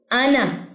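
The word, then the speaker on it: أنا: आना, ये अलिफ साइलेंट है क्योंकि अलिफ के ऊपर आपको सिफर नजर आ रहा है।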